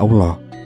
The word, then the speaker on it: Allah: itu menjadi alilah dan dalam pengucapannya bunyi ilolo tak terdengar dan menjadi Allah jadi jelas sekali bahwa kata Allah adalah sebutan bagi yang